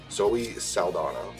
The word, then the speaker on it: Zoe Saldana: Zoe Saldana.